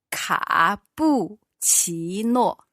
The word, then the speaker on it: 卡布奇诺: 对 So our first syllable was ka, third tone, bu, fourth tone, chi, second, and no, fourth.